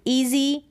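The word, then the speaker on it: easy: यहाँ पर देखिए रीड है ना कि रिड है, ईच है, स्टार्टिंग में है ईच, फिर ईट, फिर ईजी, क्या है इजी ना बोल के ईजी, लॉन्ग ही साउंड प्रोड्यूस हो रहा है ई ए का।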